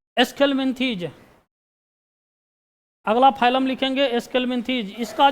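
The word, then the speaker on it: Aschelminthes: तो लिखा जाता है, जो का उच्चारण किया जाता है एस्केलमिंथेज।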